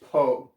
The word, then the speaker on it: po: like punching your stomach oh so you also want to lose that h right there the subtle h po okay so it's so